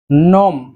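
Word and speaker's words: gnome: এই ক্ষেত্রে উচ্চারণটার দিকে একটু খেয়াল রাখবেন, বানানটি হচ্ছে GNAW, বাট উচ্চারণটি হচ্ছে নো। নো কুটকুট বা চিবানো। নোম।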